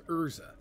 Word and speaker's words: Urza: Alright, now we talk to Ezra. Or is it Urza? What? It is Urza. There's a place. It's spelled both ways in the game, Urza and Ezra.